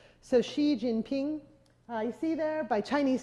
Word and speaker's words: Xi Jinping: an X in pinin is pronounced like an sh so Xi Jinping you see there by